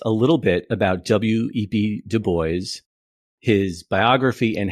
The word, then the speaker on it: Du Bois: The correct pronunciation is Du Bois. A lot of people say Du Bois, but he would always correct them on this.